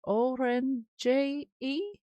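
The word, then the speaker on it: Ohrenje: Um, these are put together by someone called Oren J E. I think I'm not sure if I've pronounced that right and if it's a J at the end and an Oren Um, and then it's got a J E. It's spelled O H R E N J E and they do a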